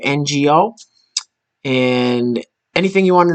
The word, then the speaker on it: Ngo: and andy no and his last name is pronounced ngo and you know he's